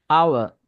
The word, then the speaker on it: hour: ஸோ இது மாதிரி வேர்ட்ஸுக்கு நாங்கள் வந்து ஹெச்சை ப்ரொனவுன்ஸ் பண்ணக்கூடாது. Honesty, hour, honorable.